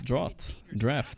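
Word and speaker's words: draught: There is one, it's draft. Yeah, I get it, of course. Every single other word that's spelled A-U-G-H-T is drought, or caught, or sought, or everything like that, right? Except for this one.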